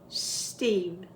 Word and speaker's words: Steve: Start with the snake sound first. Steve.